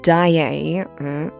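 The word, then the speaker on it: Daaé: It's d a d a. That's why there's a little apostrophe. Unless I'm wrong and that's how French people have actually been pronouncing her name Christine Dier.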